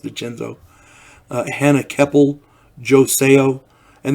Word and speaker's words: DeCenzo: Rob Garrison, Brett Ernst, Aiden Minnick, Gianni DiCenzo, Decenzo, I believe it's pronounced DiCenzo.